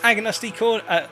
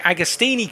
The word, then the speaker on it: Agostini: were making the way this is agnostic sorry agostini corner i should say mispronouncing my words i'm thinking it's agnostic as he makes his